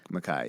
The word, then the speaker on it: MacKay: So and your last name is pronounced MacKay. MacKay, yeah.